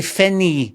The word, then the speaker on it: Finnie: But Finny, you got to say Finny. So it rhymes. You can call me Finny. So you got to say it like you're no Glasgow. At least no my part of Glasggo where I grew up. You got to say it like that.